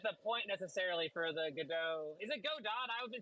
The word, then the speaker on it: Godot: It is pronounced Godot, by the way. I just say it wrong all the time.